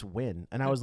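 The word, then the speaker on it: Nguyen: Do you know how to pronounce K? Okay. Do you know that's N guen? Is that just It's win.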